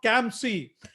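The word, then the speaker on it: CAMSC: and minority supply council it's called kamsi and to to tell us more about kamsey we have with us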